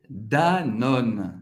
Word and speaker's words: Danone: Danone, Danone em francês é Danone, Danone. Você vai pronunciar o N no final, vai acabar no N, não vai pronunciar o E no final.